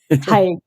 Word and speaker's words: Tadgh: I pronounced your name incorrectly. I'm going to say it again. Tadgh.